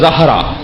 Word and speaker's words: زہرا: بی بی کا ایک لقب ہے زہرا. زہرا اجلت میں بولتے ہیں ہم، تلفظ زہرا.